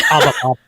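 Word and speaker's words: Habba: So, you want me to pronounce that, Tammy? Yeah, go ahead. I'm pretty good at it. It's Haba.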